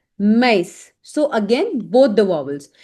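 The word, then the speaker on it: maïs: Now it is used on two vowels and both the vowels are pronounced separately. So whenever you will see this accent specifically laxonma. So there will be like two dots and you have to make sure that you pronounce both these vowels separately per example.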